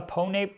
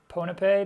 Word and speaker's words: Ponape: Like, we've got, I think it's probably a ponape bird's nest or ponape, depending on how you want to pronounce it.